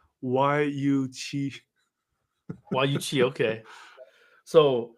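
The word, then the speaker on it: YU7: way that it it's it's just pronounced why you CH why you okay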